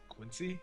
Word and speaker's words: Quincy: City by like 45 minutes how do you pronounce Quincy Quincy yeah just I just did okay cuz I'm